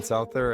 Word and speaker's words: Souther: Well, I'm going to let you Souther.